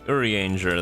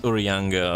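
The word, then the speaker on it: Urianger: call you uh Urri Urrianger. That's probably fine. I can probably not pronouncing that correctly because apparently it's pronounc Urianga or something like that. At least that's what I've been told.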